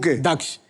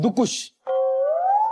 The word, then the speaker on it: दक्ष: Thank you बोलूंगा क्योंकि आपने मेरा नाम बिल्कुल सही प्रोनाउंस किया है। दक्ष लोग मुझे मुझे क्या बुलाते हैं? लोग मुझे दुख बुलाते हैं। दुख और यहां पे आके मुझे नया नाम का वेरिएशन मिला है। दुकुश। तो थैंक यू सो मच आपने मुझे दक्ष उठाया।